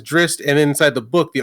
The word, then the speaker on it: Drizzt: Like when people first got the books, we all thought his name was Drizzt. His name is Drizzt, and inside the book,